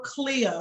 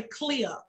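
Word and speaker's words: CLIA: amendments it stands for clear c-l-i-a now you may think I'm saying like clear like clear everything out the hallway but you'll just say clear which is c-l-i-a and just see what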